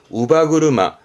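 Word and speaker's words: 乳母車: 발음은 우바구르마. 이때 발음은 바예요. 요렇게 전부 다 특별음이기 때문에 좀 챙겨둘 만한 부분이 있습니다.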